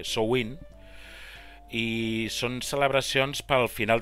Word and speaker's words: Samhain: Llavors és una festivitat molt arrelada a les tradicions cèltiques i gaèliques, en especial una que es diu, bueno, s'escriu Samhain, però es pronuncia Samhain, i són celebracions pel final de la collita amb el començament de l'hivern.